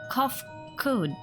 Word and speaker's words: Kofkud: As for nomenclature to address my individual person, I believe it would be pronounced Kofkud.